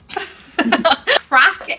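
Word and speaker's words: craic: you're so American arest crack is like obviously in America not a good thing but in Ireland a very good thing it's spelled differently correct c a i right okay can you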